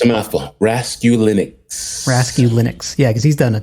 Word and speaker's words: Raskulinecz: Because I've never known how to pronounce it. Dude, it's a mouthful. Raskulinecz.